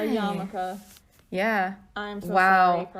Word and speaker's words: yarmulke: It's pronounced yarmulke. Oh my god, I'm so sorry. Okay. I know what that word is, but I've never seen it spelled. Neither have I. A yarmulke.